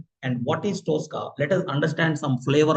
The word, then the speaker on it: Tosca: And the pronunciation for this Tska is somebody called it as TKA. Okay. Or somebody they will call it in different way. The pronunciation is toka. Tosska.